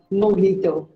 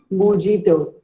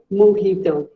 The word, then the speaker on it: mojito: It is pronounced as mojito, not mojito. Simply say mojito. The J is pronounced as H.